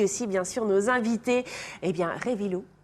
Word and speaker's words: Reivilo: Et puis aussi, bien sûr, nos invités, Révilou. C'est ça, on prononce comme ça.